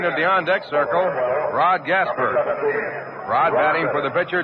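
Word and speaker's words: Gaspar: Rod Gasper, he spells his name G-A-S-P-A-R, pronounces it as it were spelled E-R.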